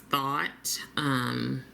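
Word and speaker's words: Thoth: This next matte shade here is Tote, and I've also seen it pronounced Thought, but I don't know. But I'm gonna go with Tote, which is the most recent pronunciation I viewed, and he is the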